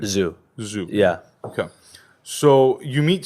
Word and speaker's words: Zhu: What's the right pronunciation? Zhu.